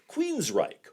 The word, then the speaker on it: Queensrÿche: A misspelled name and an unnecessary, and in this case, completely unpronounced umlaut. Yes, sir, that's Queensrÿche.